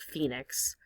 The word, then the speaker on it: Phoenix: Faux enix, although it's just pronounced Phoenix to um, help you remember how to spell it.